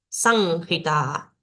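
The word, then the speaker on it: saṃhitā: Entonces, esta palabra sería sanjita, sanjita. Esto no suena como M, no suena como N, sino que se nasaliza la A previa. San, san, ji, la H suena como una J suave y ta, ta.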